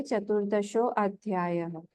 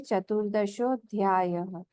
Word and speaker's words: चतुर्दशोऽध्यायः: अवग्रह जो है उसको हम प्रोनाउंस नहीं करते हैं, ये बात ध्यान रखना है। इसको हम ऐसे नहीं बोलेंगे चतुर्दशो अध्यायः, हम बोलेंगे चतुर्दशोऽध्यायः, क्योंकि वहां पे संधि है।